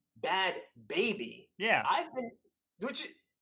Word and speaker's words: Bhad Bhabie: my mind in prep for this apparently it's pronounced bad baby yeah i've been would you anyway well i